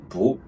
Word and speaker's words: 不: If the character after it is a tone 4, then it's tone 2, 不. Otherwise, it's tone 4, 不.